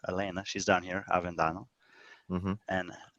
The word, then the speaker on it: Helena: Elena with an A sounding, if you scroll to the bottom, I don't know if she's even on here, she did not end up competing, is spelled with an H. It looks like Helena to us, and his girlfriend is Helena, or Elena, she's down here, Avendano, and Elena.